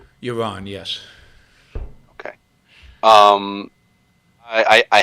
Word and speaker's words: Yaron: with euron brooke am i saying that right iran yes okay um i i have to ask do you get people saying it's pronounced euron like greyjoy and that's a first that is